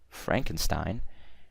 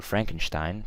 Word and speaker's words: Frankenstein: So, Mary Shelley wrote a novel, Frankenstein, in about 1878, or Frankenstein, pronounced, both are correct, by the way.